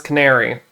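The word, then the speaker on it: Canari: Because I thought it was Canary. it's like the bird, babe. It's Canary. That makes sense. I mean, like it's spelt Canary because Ari is like a very common like name, like Ariana and other stuff like that. But the way it's spelled is just Canary with an I instead of a Y.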